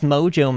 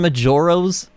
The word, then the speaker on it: Majora's: John says where was Mojo mask on the Zelda list wait Mojo mask do you mean Majora's see now he's got